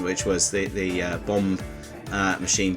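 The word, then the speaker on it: bombe: the previous section which was the the uh bomb uh machine b o m b e that's spelled um this is an actual working one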